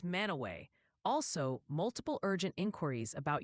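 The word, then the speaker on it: Mantua: And the new fan favorite correction is that Manua Port Ohio is mana away.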